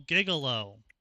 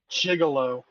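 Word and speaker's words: gigolo: Uh John Ark the male gigalo jigalo. No I I pronounced it correctly.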